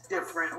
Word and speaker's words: Difernt: there listening and watching yes my name is different spells d-i-f-e-r-n-t so you guys know how to spell that uh thank you so much for having